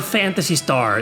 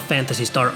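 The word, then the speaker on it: Phantasy Star: soon p is for fantasy star even though it's pronounced as an f it needs no introduction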